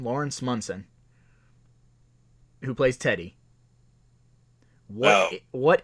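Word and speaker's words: Lawrence Monoson: Laurence Munson that's how you say his name Laurence Munson who plays Teddy well what if the character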